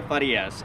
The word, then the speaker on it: Farias: it again that's how you say it lydia farias and i can get you that contact information